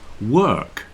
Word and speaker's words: work: now listen to this work work rhymes with perk if you know what